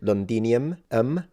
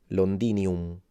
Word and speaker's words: Londinium: yeah interestingly enough in in English of course you would read it londinium but if you want to read it in classical Latin it would be londinium londinium so the O is a o and the m is fully nasalized no phic vowel length